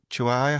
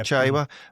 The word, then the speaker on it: Chaiwa: They seem to drop off and gave was it Chihuahua? How do you say his name, Stephen? Who? Oh, Chaiwa, the midfielder, yeah. Chaiwa.